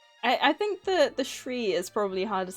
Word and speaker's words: Sri: you read it yeah the Shri one cuz it sounds like a sh like a sh Sri Lanka but it might be